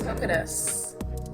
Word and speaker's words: Hoquetus: home state of Washington this is Hocus or hocus it rhymes with lettuce I really hate that